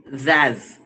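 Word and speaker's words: Szasz: Medicine by Thomas Thomas zaz S is silent Thomas Z hazards of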